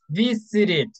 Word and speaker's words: visited: one is t t whenever you have that final sound in a verb you are going to make the ID sound okay and you are going to add one syllable here we have two syllables v c two syllables here we have three visited three syllables you are a